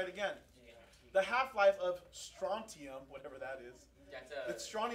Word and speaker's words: strontium: Strontium? Is the T silent also? How strontium? No, it's there.